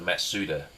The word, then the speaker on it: Mazda: It's called a Matsuda, which is actually the correct pronunciation of Mazda or Mazda.